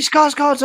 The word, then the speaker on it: Skarsgård: The actor in the picture here now is Peter Skarsgård, and how many Skarsgårds are there? Peter always one more. You pronounce his name. You pronounce his name Skarsgård. It's slightly different.